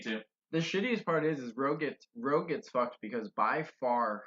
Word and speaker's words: Rogue: They The- say Rouge, the- but they're wrong. It's spelled Rogue. It's like Moulin Rouge.